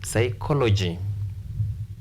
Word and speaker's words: psychology: democracy visibility photography psychology in this case if you find words ending in these letters stress anti penultimate stress anti penultimate anti penultimate means before penultimate or third last counting from right or you